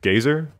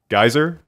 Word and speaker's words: geyser: is from gazer pit is that how you say it gazer geyser geyser pit yeah whatever I don't care